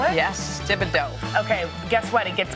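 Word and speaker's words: Thibodaux: And she is from Tibido, Louisiana. Your favorite i o d a u x. Wait, is that how you spell it? Yes. Tibido.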